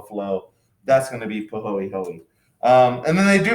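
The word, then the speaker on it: pāhoehoe: a's um this is pronounced and this is pronounced pahoey hoey you do pronounce the ease uh and so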